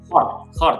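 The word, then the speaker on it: qardh: Terus kalau sudah dari konsep itu ada turunannya yaitu kayak wakalah, ada card. Bacanya apa? Card ya? Khord, Pak. Khord. Oke, itu yang kayak khord.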